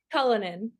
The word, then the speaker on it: Cullinan: How do you say it, Madison? Cullinan. Okay. Cullinan.